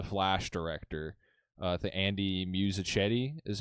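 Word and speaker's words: Muschietti: Uh, the Andy Musachedi is how you pronounce that.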